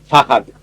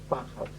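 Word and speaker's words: Fahd: From Saudi Arabia came Prince Fad. Fahad. That's a difficult name to pronounce. Fahad. Sometimes it is spelled with an H.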